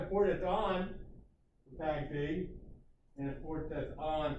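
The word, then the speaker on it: PAgP: Port Aggregation Protocol, also called and pronounced PAG-P.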